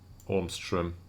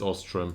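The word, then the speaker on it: Öström: This will include one of the young prospects, Gustav Ormström. Oh, it's Ostrom, so I butchered that, sorry.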